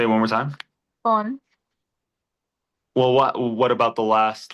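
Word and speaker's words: φωνή: Phony. So, yeah, perfect. Phony, right? That's a good example of where the stressor is. Because if you had put it on the first syllable, it would literally be phony.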